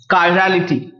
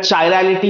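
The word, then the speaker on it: chirality: এল আই টি ওয়াই কাইরালিটি এটা চাইরালিটি হবে না যেরকম ফাঙ্গাসের চাইটিন হয় না কাইটিন হয় তো এরকম এটা কাইরালিটি হবে আর চিরালিটি চাইরালিটি এসব প্লিজ প্রোনাউন্স করবে না ইট ইজ কাইরালিটি কাইরালিটি এখানে লিখবেন অবজেক্ট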